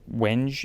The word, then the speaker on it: Wenge: The specs on this guitar are also pretty cool, because the neck is Wenge, or Wenge if you wanted to pronounce it like that. I think some people do.